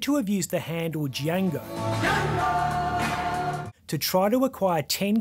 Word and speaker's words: Django: Colgrove is said to have used the handle Django to try to acquire 10 kilos of MDMA and 5 kilos of coke through Threema.